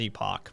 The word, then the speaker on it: Epoch: times but i mean the word is epoch but it's pronounced epic from what i understand at the newspaper um